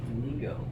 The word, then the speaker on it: Lego: yet another ABS plastic Lego version of a thing, or as it's pronounced on the continent, Lego.